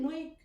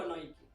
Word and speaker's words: Nike: وكان في جدال برضو حوالين النطق، هو بيتقال نايك ولا نايكي؟ ففي شابين من بريطانيا، واحد اسمه كيندل بيتر والتاني اسمه مارتن بين، بعتوا رسالة لفيليب وقالوا له بما ان انت المؤسس بتاع الشركة وعارف الموضوع من الاول، ما تقول لنا النطق الصح هو نايك ولا نايكي؟ فرد عليهم فيليب برسالة واكد ان الاسم او النطق الصح هو نايكي.